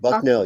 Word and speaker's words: Bucknell: Am I pronouncing that right? Bucknell, yes, it's in Bucknell?